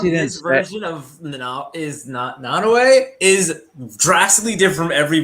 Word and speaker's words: Nanaue: I think it's pronounced Nanue. Nanue.